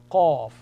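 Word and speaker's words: قاف: Qaf, two dots above. Qaf, a rounded sound. Qaf, and the shape is also rounded.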